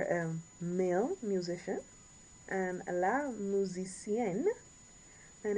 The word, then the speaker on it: musicienne: And you get that N. Make sure you pronounce when it's E-N-N-E, get that N. Pronunciate that N at the end.